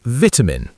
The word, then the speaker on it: vitamin: So I say vitamin with a clear, crisp T sound, and I use the short I vowel twice.